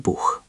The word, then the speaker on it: Buch: Now, ich möchte auch ein Buch. I would also like a book. Notice auch and Buch have the hard ch. Ich möchte auch ein Buch.